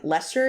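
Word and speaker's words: Leicester: center of Lester and Lester is is spelled l e i c s t e r but it's Lester for show okay I believe you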